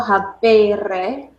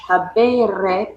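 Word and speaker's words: habēre: Say it like habeo, habere, habui, habitus versus ago, agere, egi, actus. Even if you need to emphasize it that much, habere versus agere. Don't say agere.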